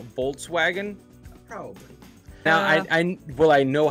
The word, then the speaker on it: Volkswagen: Now that I know how to say it, will I continue to say Volkswagen? Probably. Now, will I know how to pronounce it? It's Volkswagen.